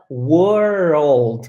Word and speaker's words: world: Então, você vai particionar ela em duas partes. Então, é were, old, were, old, were, old.